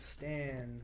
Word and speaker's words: Stan: My name's Stan, rhymes with man, but I'm a woman.